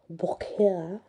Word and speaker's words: Beaucaire: Beaucaire, that's how you say it.